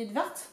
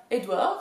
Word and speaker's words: Edvard: On dit Edvard. Ok. Mais en fait, c'est pas Edouard, c'est pas Edward, c'est Edvard.